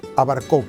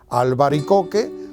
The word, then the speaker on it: albaricoque: la palabra y es abarco que muchísima gente pronuncian a barco que es realmente a barco que es una deformación de la palabra albaricoque la palabra correcta es albaricoque lo único que pasa